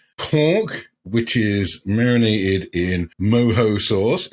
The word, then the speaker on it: mojo: It is pork which is marinated in moho sauce. It's spelled mojo but pronounced moho which is like citrus juice, garlic spices, oranges, blah blah blah blah blah and some herbs.